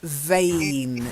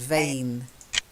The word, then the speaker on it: vain: It's got a long A sound. Vain. Vain. That's it. Now, vain sounds like in if you do body, the human body, the veins in your arms and in your legs and in your neck. You've got veins that carry the blood, and it's got the same pronunciation, vein and vein.